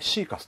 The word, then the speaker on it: Thecus: た時ですねサーカスと読むのか何と読むのかはいでシーカスということが分かりましたうんシカそうです